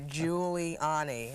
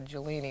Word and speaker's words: Giuliani: that's what I said I have it written out phonetically here Giuliani I don't want to call you jolini like the conductor in LA a lot of people